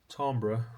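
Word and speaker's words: timbre: Tombra rhymes with amber distinguishes one instrument from another.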